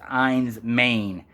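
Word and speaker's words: Enys Men: Cornwall these islands and it's uh it's actually pronounced eins Maine and that means island of stone or stone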